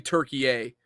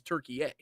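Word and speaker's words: Türkiye: E Y but yet the actual I think pronunciation of the country is Turkey A and I've I've heard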